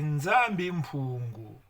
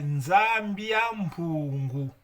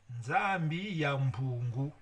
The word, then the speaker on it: Nzambi ya Mpungu: Le Congolais qui dit que le nom du Créateur c'est Nzambi Mpungu. Nzambi Mpungu. Mais la meilleure prononciation ou la bonne, c'est Nzambi ya Mpungu. Ouais, Nzambi ya Mpungu.